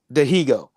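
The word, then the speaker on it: Dihigo: Although some of them, who's Dahago? How do you pronounce his name? Dahago? Dahigo? Dahigo.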